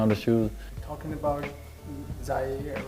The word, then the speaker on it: Zaire: Talking about Zaire, right? Is that how I pronounce it? Yeah, Zaire.